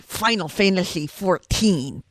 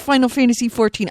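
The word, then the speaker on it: Final Fantasy XIV: It's pronounced Final Fantasy 14. I know it's pronounced Final Fantasy 14. I'm writing it, which is XIV.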